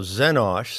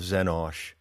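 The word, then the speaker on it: Xenosh: that is not trustworthy now zenosh spelled with an x is my code as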